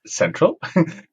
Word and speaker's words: Xentral: It's spelled with an X, but actually it's called Xentral, I've been told.